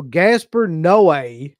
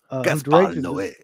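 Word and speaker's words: Gaspar Noé: So Gaspar Noe, which is how you pronounce that fucking guy's name, I found out. Gaspar Noe.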